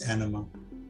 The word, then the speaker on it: Anima: You pronounced Emma wrong. No, her name is not Emma. Her name is Anima.